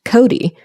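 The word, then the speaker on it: CoHDI: Co HDI, apparently pronounced Cody, formerly Infra DDS, was accepted as a CNCF sandbox project.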